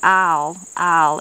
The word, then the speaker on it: oil: funny, I know, but some people say I'll instead of oil. I think I try to put more than one syllable in it, but it's just a different way of pronouncing it.